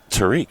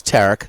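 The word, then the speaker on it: Tarik: Skenes with his Tarek or Tariq? Tariq, huh? It's Tarek.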